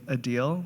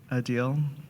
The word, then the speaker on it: Adil: I also love to pronounce his name Adil, like he's a big deal. Adil.